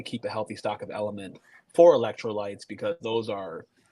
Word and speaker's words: LMNT: our show tonight, so it's spelled like this, Element, LMNT.